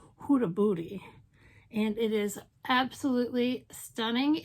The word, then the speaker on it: Huda Beauty: glenbags which is the purple haze palette from huda booty huda beauty i can say it correctly it's more fun to say hudabudi and it is absolutely stunning and it's totally